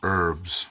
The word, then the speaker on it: herbs: Gathering of herbs remember in New England we say herbs but H is not pronounced flying ointments this reminds